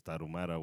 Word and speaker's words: Tarahumara: And then obviously Native Americans with the Aztecs, the Mayans, and I forget how to pronounce it in English, but in Spanish it's Tarahumara, which is a tribe of Native Americans.